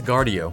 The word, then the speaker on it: Guardio: I just looked it up. It's Guardio.